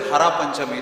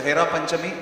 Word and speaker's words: Hera Panchami: Sometimes some people, Prabhupada says, they misspell it as Hara Panchami. It is not. It is Hera, Hernayane, Heribo, Ashada, Jugalaruparashi. Hera means to see. Panchami is the 5th day. So Hera Panchami is that.